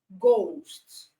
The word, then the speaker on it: ghost: Ghost, the H is silent.